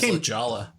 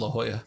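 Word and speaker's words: La Jolla: He still says Ljala instead of La Hoya.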